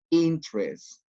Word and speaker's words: interest: Interest, only 2 syllables.